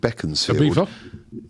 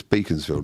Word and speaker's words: Beaconsfield: There's a place be Beaconsfield. People call it Beckensfield. Aba. Yeah. People call it Beckens. It's Beaconsfield, mate. Like how do you say Barcelona? Beaconsfield. Beckensfield. That's all the Beacons.